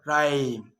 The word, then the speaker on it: rhyme: Choir, echo, echo, with G, ghost, ghost, with an R, rhythm, or rhyme. Good news. The I is not usually silent, it's usually pronounced except in the word business.